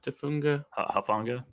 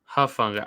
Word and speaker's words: Hufanga: Tafunga. Hufanga. I get called dumb, and he can't pronounce. Can't get the first letter of the name right.